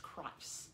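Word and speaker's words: Kreiss: oh yeah that's right christ i think is the way it's pronounced christ k-r-e-i-s-s hand-painted moria loggie yeah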